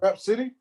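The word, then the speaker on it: Rapsody: though, and Her name Rap City? yeah, her name's Rap City, yeah, but like City is like SODY. Huh? Her yeah, it's spelled like rap then SODY like for city.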